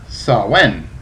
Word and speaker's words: Samhain: me it says uh samhain ah the same festival pronounced sawen okay well whatever an